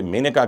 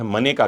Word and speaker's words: मेनका: अंग्रेजी वाले कहते हैं मननेका Gandhi. M ए एन ई के स्पेलिंग है तो वो अपने हिसाब से कहते हैं।